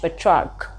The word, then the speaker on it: Petrarch: That is how he is pronounced in English, Petrarch.